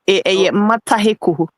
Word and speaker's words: Matayoko: say the media episode, Matayoko Junction. Say you want Zach 024678. Okay, Matayoko. Was it? Okay, Matayoko. And no, I didn't come pronouncing it. You guys are not pronouncing it well. Mataheku.